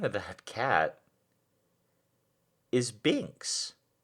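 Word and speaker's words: Binx: of that cat is binks b i and x so not spelled the same way we spelled it b-i-n-k-s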